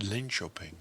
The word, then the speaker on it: Linköping: Notice I said Linköping. That's the right way to say Not it. Not Linköping, as it's spelled. Okay. But Linköping. They're building a 14-story version